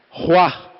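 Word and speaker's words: רוּחַ: E eu fui ver a tradução da palavra Espírito nessa criação, que se pronuncia como o mesmo apóstolo, Ruá.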